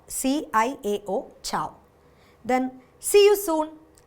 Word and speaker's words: ciao: So it is pronounced as ciao, C-I-A-O, ciao.